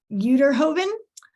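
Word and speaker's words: Uyterhoeven: to know how to say this last name, Uterhoven, and Allegheny County Council member Anita Prizio.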